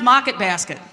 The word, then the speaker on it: Market Basket: There are co like colored tiles on the floor and it's pronounced mocket basket. Oh, mocket basket.